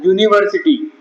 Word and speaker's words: university: or university is correct because we pronounce it as university as if the word is starting with Y though the spelling starts with U university and not an